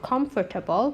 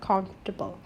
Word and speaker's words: comfortable: Remember, when we read the word comfortable, it's not comfortable, but comfortable. Comfortable. The sound in the middle is silent.